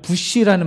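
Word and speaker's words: בוש: 여기에 부끄러워할지어다라고 하는 말로 쓰인 히브리어 단어는 부시라는 말입니다. 예. 그 미국의 부시 대통령하고 같은 발음이에요.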